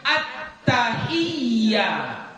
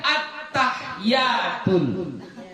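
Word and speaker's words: التحيات: tasdidnya satu dua Nah jadi bacanya attahiyah jangan dibaca attahyatul ya Jadi bukan attahyatul jadi kalau dibaca attahiyatul sah tasyahudnya enggak sah kalau enggak sah tasyahudnya tidak sah salatnya ah bahaya ini ya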